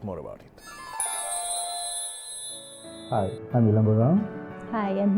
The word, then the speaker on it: Ilango: I have Ilango and I have Hiranya.